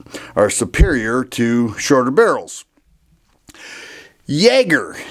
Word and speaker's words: Jagare: It's called the Kimber Super Jagger. It is spelled with a J. Jagar is how we would say it in English, but it's a beautiful 1911.